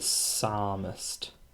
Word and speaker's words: psalmist: call them the psalmist i know it's ps so just think of it as a a silent p so the psalmist and the psalmist wrote